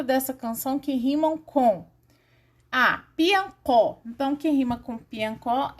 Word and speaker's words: piancó: E o O acentuado fica có mesmo, piancó.